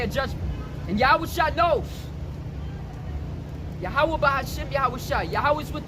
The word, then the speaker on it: Yahweh: And the pronunciation is Wa. So it's Yahweh.